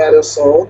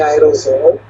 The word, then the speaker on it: aerossol: São com 2 S's, e a pronúncia é aerossol, não é aerosol.